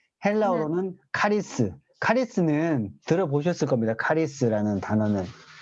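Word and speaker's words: χάρις: 은혜는 이제 뭐 히브리어로는 은혜를 여러분 그 히브리어 발음으로 하나입니다 하난 헬라어로는 카리스 카리스는 들어보셨을 겁니다 카리스는 단어는 카리스 잠깐 여러분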